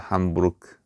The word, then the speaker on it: Hamburg: 자, 그런데 우리나라에서는 실제 아, 실제로이 아, 시어에서는이 도시를 햄벌그라고 이제 부르지만 원래이 도시에가 보면은 도시 이름이 어, 함부르크입니다. 함부르크. 예. 근데 이거를 영어에서는 햄벌라고 읽는 거죠.